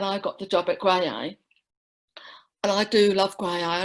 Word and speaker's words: Graeae: And it's Graeae, pronounced Graeae.